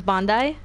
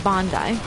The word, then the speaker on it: Bondi: wrong so it would be okay so it's Bondi that's the crew okay yeah that's the correct the correct is Bondi is ringing my doorbell nobody know why your